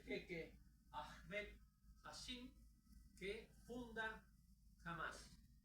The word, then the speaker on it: Hamas: Aparece ese señor, que es el jeque Ahmed Hassim, que funda Hamas. No se olviden que todas las H en Medio Oriente se pronuncian como una J, por eso es Hamas y no Hamas.